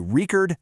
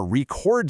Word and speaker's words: record: A record, the noun, stress is on syllable one. But if you want to record something, the verb, boom, the stress jumps to syllable too.